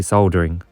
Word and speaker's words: soldering: And yes, in the UK, we say soldering and soldered, with the L being pronounced.